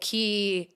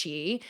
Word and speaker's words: Qi: you who don't know key is actually pronounced Chi it's a Mandarin word it means energy and it's a life